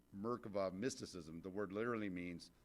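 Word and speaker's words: מרכבה: It's pronounced, if you say it in Hebrew, Merkava, mysticism, the word literally means throne or chariot, or throne chariot.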